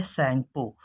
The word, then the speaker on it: Tsangpo: इसका नाम होता है सैंगपो। सैंगपो मतलब ऐसे रहेगा स्पेलिंग, TSANGPO, ये स्पेलिंग रहता है टी सैंगपो।